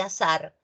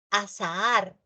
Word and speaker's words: azahar: ¿Cuántos de ustedes dicen agua de azar? Azar es suerte, hado, destino. Y eso es diferente de azahar.